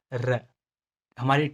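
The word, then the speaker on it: rojo: करना है, इसको एज अ डी की तरह प्रोनाउंस करो, जैसे र, हमारी टंग अपर टीथ के पीछे जाएगी तो ये र साउंड देगा, र।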